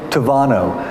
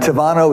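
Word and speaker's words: Tábano: of names called K Tavano and Tavano is spelled ta ba n Oh but when B in Spanish when you see a B it's pronounced as a V so it's K Tavano and Tavano is the Spanish word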